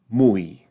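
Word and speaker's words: muy: and mui for me the last one the way I pronounce it in my dialect is more of a falling dip thong in other words the U the U has slightly more emphasis than the E mu mui all right so we've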